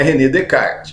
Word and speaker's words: René Descartes: que é só escreve a escrita é rené descartes mas a pronúncia correta ali do do homem é redecar o detalhe ele vai